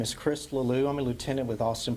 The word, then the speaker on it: Leleux: So, my name is Chris Leleux. Chris, C-H-R-I-S. Leleux is spelled L-E-L-E-U-X.